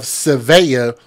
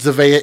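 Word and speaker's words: Zevaya: Deontray Flanagan picked up his daughter by the name of Sevaya, which is spelled with a Z, Z E V A Y A, Flanagan, picked her up from daycare.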